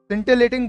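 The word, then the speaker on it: scintillating: सिंटिलेटिंग बड़ा ही important शब्द है आपके लिए, ध्यान रखना आपको कैसे बोलेंगे, सिंटिलेटिंग। तो ILL को आपको प्रोनाउंस नहीं करना, आपने ऐसे बोलना है सीधा, सिंटिलेटिंग, सिंटिलेटिंग। क्लियर?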